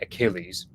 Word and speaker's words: Achille: So we would say Achilles, whereas the French say Achille.